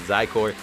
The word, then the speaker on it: Zykor: You pronounce it as Zykor with the Z.